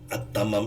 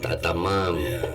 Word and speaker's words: Attamam: enggak pakai diambah embel-embel kalau di dalam lugha Arabi itu alif lam ta pakai tasdih Jadi diucapkannya attamam kalau ditulis eh oleh huruf laaten itu a t t a m a m engak ATM gitu Baik